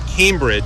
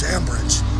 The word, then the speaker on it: Ambridge: Yeah, I was mispronouncing it. Cambridge. This is American Bridge. Ambridge.